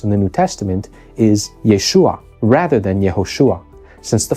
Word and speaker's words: Yeshua: version of the contract and that will correspond to Yeshua in the Hebrew name or the Aramaic version of the contract as you can see